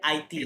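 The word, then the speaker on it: Haïti: দেন হাইতিকে বলে আইটি, যেহেতু আশ কখনোই উচ্চারণ হয় না, এই জন্য হয় আইটি, হ্যাঁ, আইটি, এটসেট্রা।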